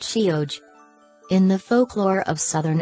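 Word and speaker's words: sióg: During the passage of that time, the word Sai came to be applied to the fairies themselves, fairy being Sihiog pronounced Shioj.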